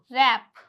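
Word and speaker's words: wrap: अगर डब्ल्यू के बाद क्या आ रहा है? आर आ रहा है तो डब्ल्यू क्या हो जाएगा? साइलेंट हो जाएगा। Example रैप rack.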